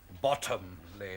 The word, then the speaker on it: Bottomley: Bottomley, if you don't mind. Oh, pardon, Monsieur. Accent on the bottom.